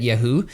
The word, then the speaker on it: Yahoo: - Yeah, so it's Yahoo for everybody watching. - What did I say? What did I say? - You say it like Yoohoo, which makes me really happy